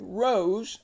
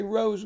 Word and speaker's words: rose: put an S here this e this silent E makes this o long so it's going to be rows and that by the way is our keyword rows say rose with me o rows